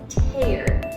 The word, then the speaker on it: tear: are called tears and the pronunciation is more of a t-e-e-r kind of sound tears so the difference